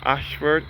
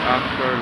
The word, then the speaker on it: Ayshford: This is situated at Ayshford in St. Thomas. This Ayshford is spelled A-Y-S-H-F-O-R-D, which was built in 1838 and dedicated in 1839.